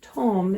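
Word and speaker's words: Tomme: And it's interesting because I found out, so Tom is a French cheese, and so you don't pronounce the last letter.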